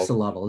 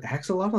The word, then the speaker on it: axolotl: Axolotl, is it axolotl? Have I been saying it wrong? Axolotl or axolotl? Both ways.